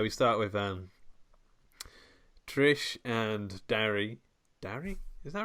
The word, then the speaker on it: Darry: Yeah, we start with Trish and Darry. Darry? Is that right? Yeah, Derry. But his name's Darry, but I think they say it like Derry.